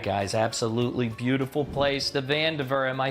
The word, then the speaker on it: Vandiver: All right, guys, absolutely beautiful place, the Vandiver.